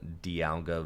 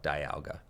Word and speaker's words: Dialga: Having the Bidoof down means that if my opponent does go in with Origin Form Dialga VSTAR, then they can...